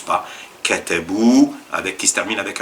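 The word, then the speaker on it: كتبوا: pour le pluriel et le alif qui ne se prononce pas. Il y a un alif à la à la fin après le w qui ne se prononce pas. Vous allez pas dire katabois.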